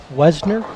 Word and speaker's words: Westner: Chicago and Jody westner how do you say it Wesner yes Jody Wesner I I've